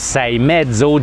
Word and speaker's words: Seiemmezzo: half and if you forget it how to pronounce say medso just write down 6.5 and everybody is going